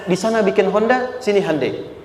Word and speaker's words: Hyundai: sana bikin Honda sini Handai hyundaikan dibacanya Handai sana Honda apapun yang